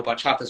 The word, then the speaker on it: bachata: you pronounce that foreign it's funny because I'm spell it it's b-a-c-h-a-t-a and uh for people who don't know bachata's Origins are in the Dr which is Dominican